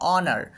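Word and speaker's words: honour: যেমন অনার, খেয়াল করো অনার, অ অ অনার, তো দিয়ে উচ্চারণটা হচ্ছে, এই জন্য এর পূর্বে অবশ্যই অ্যান ব্যবহার করতে হবে, নিয়ে বলতে হবে অ্যান অনার একটি সম্মান।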